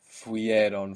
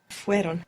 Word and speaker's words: fueron: add on ieron, but we will find it very difficult to pronounce fuieron, fuieron. So the E sound, the I, fell away. So how would that sound? Fueron. Fueron. So the I, the E sound, falls away.